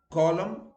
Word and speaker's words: column: We all know that when N follows an M, it is silent. And the examples are him, damn, solemn, condemn, column, etc.